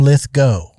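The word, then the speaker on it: Lithgow: Here's how you remember. Okay. It's Abatau and Lith Go. Oh. Cuz people get people flip both of those. They say John Lithggo. John Litho. It's John Lith Go.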